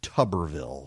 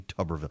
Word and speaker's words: Tuberville: unfortunate non-mistake of saying Goober Tuberville, instead of Tuberville for Tommy Tuberville, the former coach at Auburn.